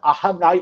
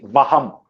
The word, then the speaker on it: aham: Now, if you see, you won't see the word Arunachalam and aham. I'm pronouncing it as aham because that is a meaning. You would see vaham. You would be seeing the word vaham, because while writing poetry,